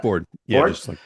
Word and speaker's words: Foard: How do you pronounce that? Ford.